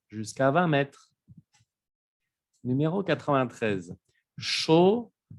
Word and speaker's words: chaud: Chaud, chaude. Aquí también en femenino cambia la pronunciación, se escucha la D.